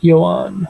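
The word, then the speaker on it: Yoán: How do you pronounce his first name? Yohan Okay.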